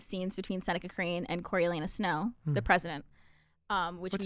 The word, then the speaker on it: Coriolanus: So this also added a lot of scenes between Seneca Crane and Coriolanus Snow, the president. Which What's his first name? Coriolanus.